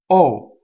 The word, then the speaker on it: o: the first word is the interjection oh okay and this can either be pronounced open or closed there are very few words in Italian that would present you with the choice but this one does the more common is the open up me the less common is o but it could be pronounced either way okay so let's go